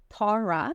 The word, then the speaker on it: Tara: I would just like to do a side note here that if you go to Ireland, the name Tara, pronounced Tara, is actually very, very common and highly regarded.